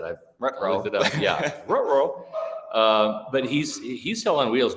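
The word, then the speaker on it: Orhorhoro: Rook Orororo, and I know that sounds like Scooby-Doo, but it's Orororo. That is his name. That's how you pronounce it. I looked it up. Yeah, Orororo.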